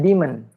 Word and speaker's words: daemon: Bacanya kayak demon.